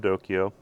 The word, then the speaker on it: DOKIO: now it came with a little card from dokyo that's how you spell it d-o-k-i-o and i will and and by